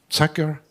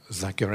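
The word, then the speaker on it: Zucker: uh as I mentioned Ken Saker had a zaker actually the how it's pronounced had a lot of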